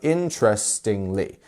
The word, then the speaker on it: interestingly: is our Str syllable we have interestingly interestingly four syllables which means which one of them is our stress syllable can you see the dots interestingly interesting not interestingly or interestingly or interestingly is interestingly interestingly it's the first one there we go next